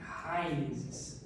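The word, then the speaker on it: αἵρεσις: Esse I ele é acentuado e aspirado, então eu pronuncio hairesis, heresia, e significa literalmente escolha.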